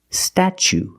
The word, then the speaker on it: statue: So pronunciation, statue, statue. For the first vowel, we use the short a like black cat, sta. Then we use the ch sound, statue. For the second syllable, we use the long oo like boot and moon, oo. Together, statue.